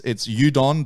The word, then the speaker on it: Udokn: Once again, for people that want to check it out, it's Udokn. The K is silent.